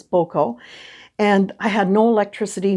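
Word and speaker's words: Gboko: a little town called boco pronounced g-b-o-k-o g was not um sounded out in it it was boko and i had no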